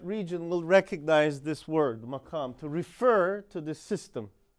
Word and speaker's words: maqam: Okay, in Arabic they will spell it with a Q, so and they'll have a thicker pronunciation of it, maqam, like that.